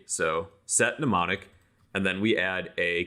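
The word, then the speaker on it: Mnemonic: set neonic it's spelled kind of funky so set neonic and then we add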